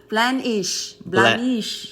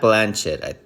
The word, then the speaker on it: Blandish: Blanchett. Blandish. Blanchett. It's not Blanchett. Blanchett's the one from the Golden Girls, right? No. Blanche. Oh, okay. It's Blandish.